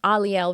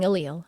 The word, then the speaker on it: Aliel: story of her name, I've been pronouncing Aliel wrong all these years, 10 years, because I didn't know the name of angels, how they were pronounced. So I was saying Aliel, and that's why I didn't like it. And it's pronounced Aliel.